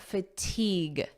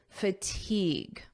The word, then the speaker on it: fatigue: Notice the pronunciation here. Fatigue. Igue. Fatigue. Repeat after me. Fatigue.